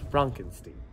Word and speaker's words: Frankenstein: foreign my name is pronounced Frankenstein As You Wish must